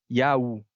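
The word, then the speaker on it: Ιαου: Nesse caso, a gente tem aí a transcrição, a transliteração de uma pronúncia que seria Yaú, Uhum.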